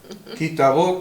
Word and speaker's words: Ki Tavó: Kitavó con B corta, y con acento en la O.